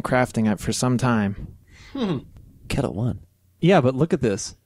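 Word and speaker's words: Ketel One: in the Netherlands oh so they actually make Kettle One vodka as well very interesting did not know that pronounced CLE so it's actually CLE CLE one wait aren't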